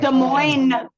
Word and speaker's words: Des Moines: Des Moines. All right. Des Moines. The S is silent.